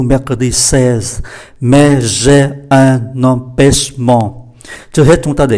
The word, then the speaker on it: empêchement: 16, mais j'ai un empêchement. Trước hết chúng ta để ý cách đọc, CH phải uốn lưỡi, M đứng trước P thì phát âm là N, empêchement, và đây là hai âm mũi, empêchement.